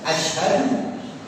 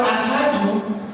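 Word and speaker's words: أشهد: Ketika bersyahadat, Bapak Ibu, kalimat syahadah itu antara asyhadu dengan asadu ataupun asyadu itu jauh berbeda. Kalau asyhadu, saya bersaksi, ini yang benar, asyhadu. Tapi kalau asadu, singa. Kalau asyadu lebih berat.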